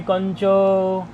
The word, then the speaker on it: कञ्च: दृशो नालोचने कंच, ये कार है तो नकार जैसा उच्चारण निकलता है इसका, इसलिए कंच बोल दिया।